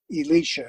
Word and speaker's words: Elisha: by the name of elisha not elijah but or elisha elisha is the way you pronounce it okay so we're stopping